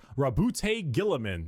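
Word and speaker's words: Roboute Guilliman: Primarch, Rabute Gilliman.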